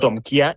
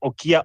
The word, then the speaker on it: Okiya: pronouncing the name wrongly it's not omia it is okia omata so that's something that